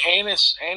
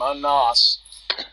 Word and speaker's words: Anas: Oh no, Anus hate. Oh. Or they're mispronouncing his name, Anas.